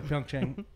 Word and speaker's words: Pyeongchang: The games are being held this year in Pyeongchang County in South Korea. I'm glad you said It's- that, because I've not known how to pronounce that until just now. Yeah, Pyeongchang.